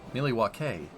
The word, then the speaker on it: Milwaukee: trade with a Native Americans in fact isn't Milwaukee an Indian name oh yes Pete it is actually it's pronounced milwake which is El gonin for the good land